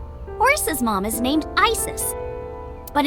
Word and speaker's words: Isis: Horace's mom has named Isis but in ancient Egyptian it's pronounced closer to ISA or ASA hmm how do I